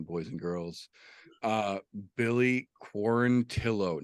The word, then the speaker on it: Quarantillo: a good one boys and girls uh Billy quarantillo not quaranteo he corrected everyone it is pronounced fanatically quarantillo got his wish the UFC did something they